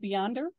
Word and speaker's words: Beyonder: Well, how long has Beyonder, and am I pronouncing that right, Beyonder? Yes.